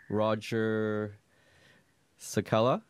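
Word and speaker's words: Roger Cicala: I've got a special guest, Roger Sakella. Did I pronounce that right? Perfectly. Or should I say Dr. Roger Sakella?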